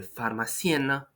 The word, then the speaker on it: pharmacienne: So you see, there is no nasal sound there. You don't need to go with your tongue towards the back of your head. You just spell it out loud like that.